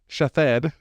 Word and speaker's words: Shithead: Pronounced Shathed.